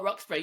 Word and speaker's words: Roxburgh: Oh, Roxburgh. Yeah, you nailed it. Yeah, Like Roxburgh. Edinburgh. Yeah, because it's like it's spelled like Edinburgh, so I pronounced it that way, but I wasn't sure.